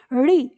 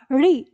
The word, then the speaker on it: ऋ: आपको क्या करना है इस स्वर का उच्चारण सही उच्चारण कर करने के लिए आपको अपने मुख से इस ध्वनि को यानी जो यह ऋ ध्वनि है इसको मूर्धा स्थान पर अपनी जीव ले जाकर उच्चारण करना होगा तो आप करिए अब